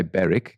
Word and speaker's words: Berwick: in 1849 in south beric now we would say beric because it's spelt b-e-r-w-i-c-k so there is one just on